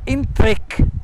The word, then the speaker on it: entrec: Allora, entrec, l'accento fonico chiuso sulla seconda E, intero, impacciato.